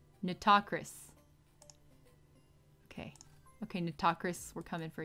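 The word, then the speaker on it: Nitocris: Neato Chris? Am I saying that right? Neato Chris? Neato Chris? Fate Grand Order? How do you pronounce? Pronunciation. Natakris.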